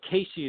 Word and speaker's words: Cayce: you know uh okay first first of all casey is spelled c-a-y that's uh you know a lot